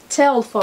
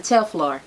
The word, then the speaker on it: Telfar: i got me up i've been pronouncing this wrong y'all tell for i've been saying tail floor so far back and